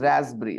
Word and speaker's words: raspberry: And when you say raspberry, P is silent, dear student. It is raspberry, okay, not rasp, okay?